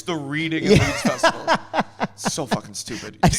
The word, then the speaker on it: Reading: It's not It's not the Reading and Leeds Festival. It's the Reading and Leeds Festival.